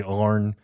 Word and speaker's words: Arne: Some people say Arne because it's spelled A-R-N-E. I think it's pronounced Arnie.